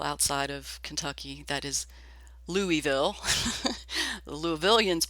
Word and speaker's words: Louisville: 3 years ago, I was at an Amos Lee concert, an outdoor concert in Louisville, Kentucky. And for people outside of Kentucky, that is Louisville. The Louisvillians pronounce it Louisville.